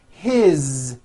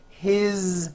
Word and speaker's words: his: you hear that is his same thing it also has a voice Z ending his mom is Mary as